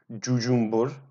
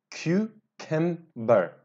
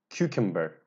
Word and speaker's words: cucumber: our eyes cucumber guys a lot of students have problem with pronunciation of this word they say do Zumba or to Zumba no guys correct pronunciation is cucumber cucumber cucumber cucumber I don't